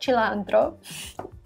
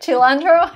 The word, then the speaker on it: cilantro: i learned uh italian i was like chilandro you're like what cilantro are you serious cilantro okay anyways lettuce this is the way you pronounce this word double guacamole of course no cilantro nope lettuce shredded not